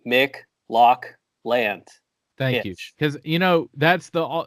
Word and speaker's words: McLaughlin: like a sound like if McDonald's made lox then it would be Mick Loch land thank you because you